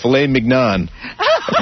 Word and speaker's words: filet mignon: how about tenderly aged filet mignon? Dick, you're an asshole. You don't say. How do you say it? Mignon? Filet mignon. That's how you say it.